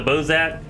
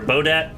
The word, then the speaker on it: Bodat: Eyes of the Bozat, or Bodat. Oh yeah, you said it right there.